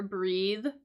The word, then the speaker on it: breath: breathe breathe in um notice how that's different from the spelling of breath right so the noun and the pronunciation is a little bit different too right so breath as a noun sort of ends in that um the unvoiced pH cons consonant whereas breathe for the